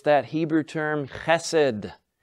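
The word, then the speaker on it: חסד: It's that Hebrew term chesed. Chesed, or sometimes just pronounced chesed, or even sometimes you'll see it as chesed, with an indication under the H, that it's that hard H sound.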